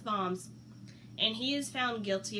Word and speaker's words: Worms: is a city in modern-day Germany and not worms I know it looks like worms but it's pronounced bombs and he is found guilty of heresy but